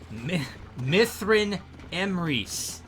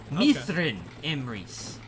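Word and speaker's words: Myrddin Emrys: So the DD is pronounced as a TH. Now, did the sheep take your maiden name, or? So Mithrin Emrys. Mithrin Emrys.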